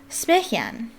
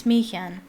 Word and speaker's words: Smiljan: what Tesla's hometown was, and that was Smychan. I believe that's how you pronounce it. I looked it up. Smychan? I think it's Smychan.